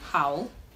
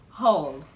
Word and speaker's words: haul: This word is commonly pronounced, you might be tempted to call this word howl. It is commonly pronounced howl, but the right way to pronounce this word is haul, haul, haul, like a clothing haul.